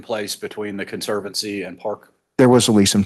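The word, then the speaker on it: Parq: And that's pronounced Park with a Q? Yes.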